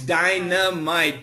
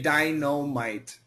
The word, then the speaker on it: dynamite: Dynamite yes Dynamite ah D Dino actually it's dynamite but many many Americans say dinomite what's your what's your question yeah go ahead